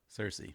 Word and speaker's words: Cersei: slept with her brother cersei there we go that's the one seriously rhymes with thirsty now it's time for